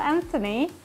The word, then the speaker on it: Anthony: We have a $5 donor from Anthony.